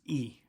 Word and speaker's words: y: past the hour use e why the letter Y is pronounced e in Spanish so 320 it's 3